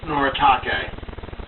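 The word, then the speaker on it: Noritake: talented rachel reynolds actually uh charlie interrupt is pronounced noratake so all right hang on i got something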